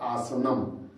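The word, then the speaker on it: ஆசனம்: इसी तरह से आसन एक शब्द है हिंदी का, इसका तमिल में उच्चारण होता है आसनम।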